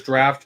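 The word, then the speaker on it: draught: gold pieces yeah there's draft course under that uh it's spelled dra drought g r a u g HT yeah yeah that's a draft horse oh okay it's under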